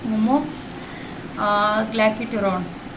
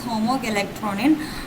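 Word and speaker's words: homogalacturonan: of pectin and particularly homo guton okay so basically uh I just mispronounced it it is homog galron uh this is actually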